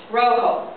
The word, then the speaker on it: rojo: Rojo. The J makes the H sound.